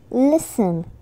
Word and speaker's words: listen: British people always pronounce the T, but in some words we are not supposed to pronounce it. They are listen, listen, castle, castle, buffet, buffet, soften, soften, ballet, ballet.